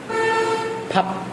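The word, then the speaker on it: 답: এটার উচ্চারণ হচ্ছে থাল। থাল অর্থ হচ্ছে মাস। তারপরেরটা দেখেন, তারপরেরটা যদি আমরা দেখাই, তারপরেরটা পর্যায়ক্রমে থাপ।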